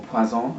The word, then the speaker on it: Poison: coming in but the poisons have a kind of special place for me I recently smelled the tundra poison the green one or paisans as it's pronounced in French and again I was